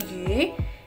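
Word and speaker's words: 鱼: Mandarin ih ih ih kan bacanya bukan you ya teman-teman tapi gih gih artinya ikan Lalu ada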